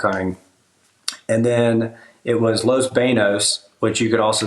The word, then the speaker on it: Los Banos: grew up duck hunting and then it was Los Banos which you could also say is Los Banos but that's not the correct way to say